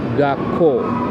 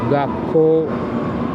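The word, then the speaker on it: がっこう: just like in school gako gako that's g a k k o u or that's um two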